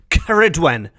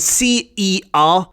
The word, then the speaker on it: Ceridwen: to the tales of Ceridwen.